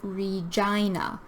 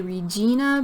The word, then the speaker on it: Regina: And then we have number 12, the capital city of Saskatchewan is Regina. A lot of people want to say Regina, but we should pronounce it like Regina. Think of the I for I.